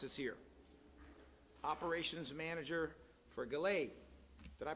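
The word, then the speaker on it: GALAEI: committee micah thomas is here operations manager for galay did i pronounce that right yeah all right g-a-l-a-e-i jessica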